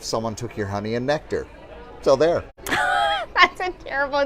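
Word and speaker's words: NKTR: Is that Nectar? N-K-T-R. Yes, Nectar. yes. Luckily for you, I speak phonetically.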